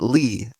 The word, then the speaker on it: Lea: last name is Lee we pronounce it Lee but it's spelled l EA so please reach out